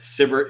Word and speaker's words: SBIR: yeah by the way is that how you pronounce that acronym cber and sitter so yes cber and